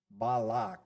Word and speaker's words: Balak: Balak is how we should say it according to our rules.